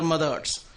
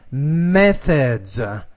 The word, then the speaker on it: methods: They discovered humans are conditioned to very similar methods. Not that. You're in trouble with this word. Methods. Methods. So you have the TH. Your tongue has to be between your teeth when you produce that sound.